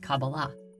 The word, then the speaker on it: Qabalah: in the Hebrew alphabet these four letters together are pronounced cabala however the most common